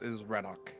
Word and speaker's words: Rannoch: Is it pronounced Rannoch? Yes, it is Rannoch, indeed.